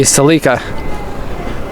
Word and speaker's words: Celica: to pronounce it the Japanese way though it would be celika you can't mispronounce Japanese words because the entire alphabet is is phonetic and so as long as you can read it you can pronounce it properly test Rosa some Ferrari